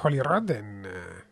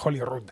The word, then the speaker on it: Holyrood: Y cuando se habla de Holyrood, además se escribe y se dice de la misma manera, lo cual ya es casi milagroso, tratándose de una palabra en inglés, porque tiene solo una